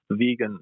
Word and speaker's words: Vegyn: Vegan. It's spelled VEGYN.